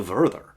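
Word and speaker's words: Werther: protection against something called the verther effect and i am pronouncing it in the german way i don't know how many of you tried to read the 1774.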